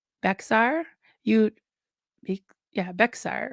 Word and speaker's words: Bexar: The county in Texas that I was born in is called Bexar. You Bec yeah, Bexar, right? You'd probably pronounce it wrong, so I'll tell you.